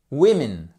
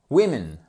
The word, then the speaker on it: women: Women. Women. Attention, ça change la prononciation. Le O ici, c'est un I court. Women.